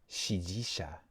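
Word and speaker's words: 支持者: Shijisha is how you pronounce it.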